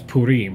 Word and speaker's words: Purim: a new holiday called purim i hope i'm pronouncing it it's purim excuse me that's that's more jewish pronounciat pronunciation and i have a